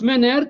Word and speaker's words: Menger: Ça s'écrit Menger avec G comme golf, mais ça se prononce Menger, Karl Menger de l'école de Vienne, l'école autrichienne.